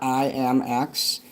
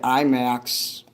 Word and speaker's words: IMX: I was calling it IMAX a few weeks ago because somebody had me singing a song. I'm like, IMAX. They're like, no, it's pronounced IMX.